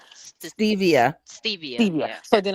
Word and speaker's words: Stevia: Is sugar called sativa? Stevia.